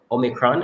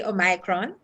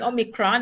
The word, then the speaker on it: Omicron: a new variant um omicron is that that's how it is pronounced that's what i hear them saying omicron you know when i saw it first i i did say a micron but i i'm hearing omicron and i've done some